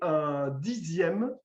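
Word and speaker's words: dixième: avec un z mais 10e qu'on écrit x mais qu'on prononce z alors en français il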